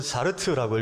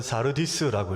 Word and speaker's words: 사르디스: 근데 이 원어를 읽으면 사르트라고 읽고 또 어떤 번역은 사르디스라고 읽습니다. 4대 이 말은 지명입니다.